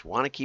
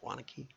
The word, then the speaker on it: Waunakee: Not everybody would be able to pronounce that, but it's Waunakee, Wisconsin. It looks like Waunakee maybe, but it's not. It's Waunakee.